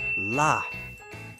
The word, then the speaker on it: laugh: 2 1 well done laugh they sound like the letters g and H make a f sound fantastic H the letters